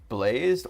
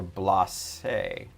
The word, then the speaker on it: Blaze: Um, Blaze, is your name pronounced blazed or blas? He says, "Blaze." None of that French pronunciation over here.